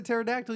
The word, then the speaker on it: pterodactyl: dude why can't hear the pterodactyl use a bathroom why cuz the P is silent why do I hate